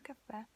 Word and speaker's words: caffè: Okay, it has an accent, so your voice has to concentrate on that. You have to really stress this last letter.